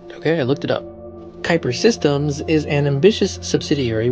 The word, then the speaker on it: Kuiper: started a division within the company called project Kyper and yes that is how you pronounce it okay I looked it up Kyper systems is an ambitious subsidiary within Amazon that